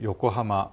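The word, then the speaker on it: 横浜: 이런 지명이 있죠 에 요꼬하마 우호 사카에 둘 다 평판 행입니다 악센트 핵은 없어요 우호 사카 요꼬하마 근데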